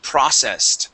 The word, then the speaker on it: processed: Okay, first off, this word is processed with the accent at the very beginning of the word. Processed. Processed. Okay, now yeah, that e d at the end will make a t sound.